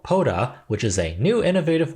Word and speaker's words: Pota: And after filming this video, I realized it's actually pronounced Pota. My brain tricked me. It saw this name as the beginning part of podiatrist, so my bad.